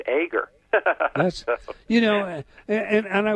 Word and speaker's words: Eager: of my name correction because you said it the way most people say still eager and I am a very enthusiastic guy but it I was taught as a child that the last name my name is pronounced ager you know and and